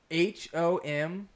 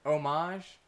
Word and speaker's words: homage: how would you pronounce h-o-m-a-g-e i've actually looked this up and i don't remember exactly what the correct answer i've heard homage and homage i would not pronounce it with the h sound ever me personally i'm